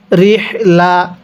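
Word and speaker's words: رحلة: হিম ইলাফিহিম কিভাবে শিখব ইলাফিহিম এরপরে র হাজের রিহ লাম জবর লাহলা অনেকে এটাকে রেহলা পড়ি যদি রেহলা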